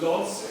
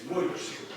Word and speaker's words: Łódź: It's not pronounced Lodz, it's Łódź.